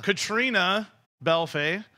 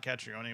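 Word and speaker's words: Caitríona Balfe: Katrina Belfay. That's how you say her name. It's not Catrione, which is really disappointing.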